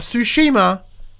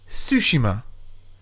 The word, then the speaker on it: Tsushima: As I said at the start of the show, Tsushima. Not Tsushima, Tsushima. So we've been saying it wrong this whole time.